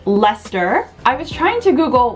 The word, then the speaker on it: Leicester: was about to call lee chester but i looked up the pronunciation and it's just lester i was trying to